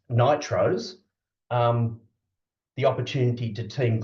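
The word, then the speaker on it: NTROs: um as it produces non-traditional research outputs which um in in Australian accent is pronounced Nitros um the opportunity to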